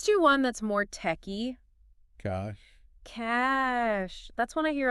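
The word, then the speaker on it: cache: You hear cash a cash a Yeah. Like trying to make it fancy. Yeah. But really it's just it's just cash. Cash. Yeah. Rhyming with flash.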